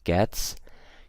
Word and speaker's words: gets: with words like takes gets you pronounce it with an S okay so I don't say takes I don't use a Z I use an S ok so it takes